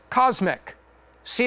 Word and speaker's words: CosMc's: know what this is Cosmic see that there's a little McDonald's there and there's a golden arch right there this is the first location of cosmic this is pronounced cosmics focus on drinks a